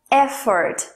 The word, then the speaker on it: effort: a pronúncia da palavra é ford a sílaba tônica da primeira é ford é forte é forte